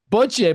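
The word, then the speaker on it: bocce: I I know I'm mis we're mispronouncing it. Well, how do you say it again? Boche ball.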